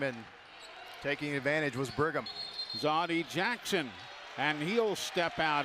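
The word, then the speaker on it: Zawdie: Spells his first name Z-A-W-D-I-E. Zoddy is how it's pronounced, and that's how he shoots.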